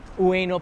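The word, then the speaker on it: Ueno: and there's a famous statue in weno park weno park I said it right that's how you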